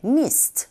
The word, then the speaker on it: midst: 이 미드스트라고 발음이 되는 것이 아니라 드 사운드는 아주 미약하게 mist 이런 식으로 발음이 되죠. 물론 원어민의 입에서 나오는 소리는 드 사운드를 합니다. 그런데 아주 약하게 하기 때문에 우리 귀에 전달될 때는 마치 없는 것처럼 들리게 되죠.